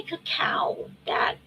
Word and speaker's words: cacao: Uh, when I say cacao, that is the correct pronunciation for like ceremonial cacao, which is what I like.